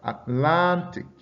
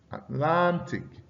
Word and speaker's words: Atlantic: For words concluding with IC, the stress is placed on the syllable directly before this suffix. All right. So you have something like fantastic, fantastic. All right. Atlantic, Atlantic.